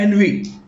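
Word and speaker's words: ennui: एनवी spelling है ENUI, spelling अलग है बिल्कुल।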